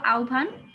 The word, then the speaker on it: আহ্বান: আমরা দেখতে পাচ্ছি দেখো এখানে কেন আমি আহ্বান বললাম কারণ উচ্চারণের নিয়মে আছে যে হ আর ম সংযুক্ত হলে কিসে আওয়াজ বাবা একটু মিউট করে